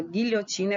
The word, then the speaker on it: guilhotina: Mas quando eu pronuncio o som gui, eu automaticamente, né, ou melhor, foneticamente, eu anulo aí o som do U. É como se o U não fizesse parte da sílaba gui, né? Como se eu estivesse apenas falando do G com I, gui, certo?